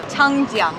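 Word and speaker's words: 长江: Changjiang. Changjiang. Yep, and the Jiang. Jiang? Is the first syllable in what we're eating today.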